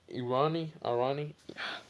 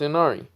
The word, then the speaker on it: Inari: So now I found it, and it's Inari. Ooh, Anime King brings out something new. Ooh, I'm gonna watch that later. Um, yeah. What's it called? Inari does tell them that